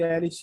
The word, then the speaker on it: Elish: deusa dragão, ou Enuma Elish. Enuma, como se escreve, Elish igual Billy Elish.